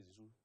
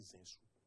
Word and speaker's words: Zinsou: J'ai entendu, comment on appelle, il s'appelle, M. René Zizou, dit Zinsou.